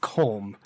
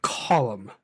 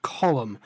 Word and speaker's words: Colm: He was like, "It's not Colm, it's Colum. That's how you pronounce that name. It's an Irish name. It's pronounced Colum."